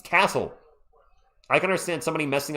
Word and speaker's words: Cissoko: I think I missed the first free throw as a miss cuz I was stupefied by Sidy Cissoko's last name being butchered. It's It's Cissoko.